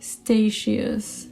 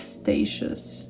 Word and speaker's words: Statius: Statius. Let's go with Statius. Let's mix things up a bit. Sometimes you get the Italian pronunciation and sometimes you get the English one.